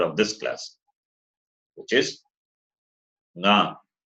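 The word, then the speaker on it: ङ: this class, which is nga. When you say nga, the sound comes from the throat as well as nose.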